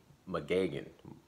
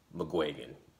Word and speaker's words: McGuigan: trainer as josh taylor which was shane mcgagen i'm saying his name wrong what was his name shane mcguigan close enough and um josh taylor